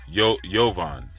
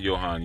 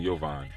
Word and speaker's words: Yovan: Yovan. Oh, okay. Give thanks. So not Johan, Yovan.